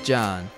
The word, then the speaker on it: John: They call me Detective John. The H is silent.